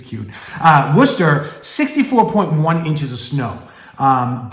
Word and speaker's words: Worcester: going to number three Worcester right or Worchester is a lot of people that don't know how to say it from the area and we